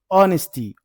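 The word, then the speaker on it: honesty: الامانه اونستي اونستي اونستي حرف الاتش حرف صامت لا ينطق اونستي اونستي يوافق اكسبت اكسبت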